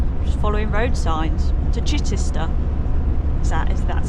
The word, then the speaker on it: Chichester: Just following road signs to Chichester. That's how you say it? Chichester?